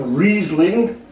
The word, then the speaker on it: Riesling: It's a Riesling, or as it's properly pronounced, a Riesling, and this particular one is German.